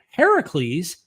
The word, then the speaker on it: Heracles: However, even other critical scholars think that Heracles, which is the Greek pronunciation, which means the older version of Hercules, influenced the biblical Samson story.